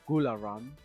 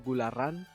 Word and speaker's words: Gularan: So I decided to basically just make it so that it would be read phonetically in Spanish. So you can pronounce it Gularan or Gularan in Spanish as well.